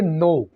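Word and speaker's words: know: नो कहा जाता है के तो इसको हम साइलेंट रखेंगे और इसको हम ऐसे बोलेंगे नो जानना आई नो यू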